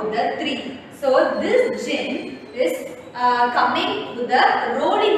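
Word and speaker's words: djinn: This is the picture of Jin. Okay, see here. D-J-I-N-N. So you have to pronounce it as Jin.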